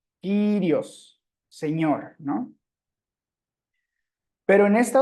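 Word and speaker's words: κύριος: Por ejemplo, en la palabra Kyrios, ahí la Y, perdón, aparece sola, no está haciendo diptongo, por lo tanto ahí se lee como Y. Kyrios, Señor, ¿no?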